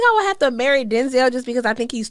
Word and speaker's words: Denzel: they didn't tell okay he said his name was it's pronounced Denzel oh I didn't know